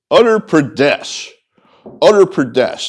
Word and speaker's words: Uttar Pradesh: Uttar Pradesh. That's spelled U-T-T-A-R. Like, the handling of this pandemic has been an utter disaster, except it's, U-T-T-A-R, not E-R.